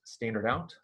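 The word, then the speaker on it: stdout: captured std out call this std out is pronounced standard out uh standard out is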